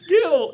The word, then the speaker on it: Gil: And then you say Jill, and he goes, "It's Gil. It's pronounced Gil."